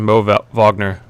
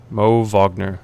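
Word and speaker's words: Mo Wagner: and then the pronunciation Mo Vagner Mo vogner yeah it's it it's spelled with the w I thought it was vogner as well um yeah but I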